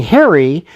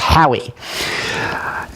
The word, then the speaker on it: Harry: with my name being Harry in Boston if you couldn't you know some so my name in Boston's pronounced Howie and but if but